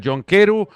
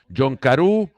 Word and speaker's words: John Carew: Barak me dirá que otro futbolista tiene más pronunciaciones a su apellido que el noruego, porque está John Keru, John Carew, John Keru.